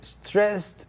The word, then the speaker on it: stressed: like a T, stressed. Stressed. Not stressed, D. 네. It's weird. Stressed he is. It's never D, it's T in this right. case.